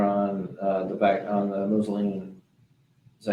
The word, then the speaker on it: Mulsanne: All right, so we are on the back on the Moselene. Is that how you say it? Moselene? Mulsanne?